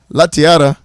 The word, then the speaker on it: Latiara: Latiara, good morning. Again, I didn't roll the R this time, and I said it right.